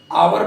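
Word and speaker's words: hour: हैं हा ओ यू आर लिखा है इसका उच्चारण हम अवर करते हैं ना की अवर हाय का उच्चारण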